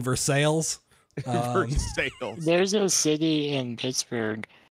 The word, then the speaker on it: Versailles: Kentucky boy and we we pronounce them L's like in Versailles there's no City in